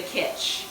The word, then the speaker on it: Kitch: vegan be in the kitch it rhymes with pitch and that was my